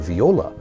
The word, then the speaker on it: viola: need to play the viola Viola what's that kind of rhymes with granola I don't think I